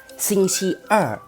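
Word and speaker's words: 星期二: ภาษา จีน ออก เสียง ว่า สิ่ง ที่ อ่ะ สิ่ง ชิ อ่ะ วัน อังคาร สิ่ง ฉี่ อ่ะ วัน พุธ ชุด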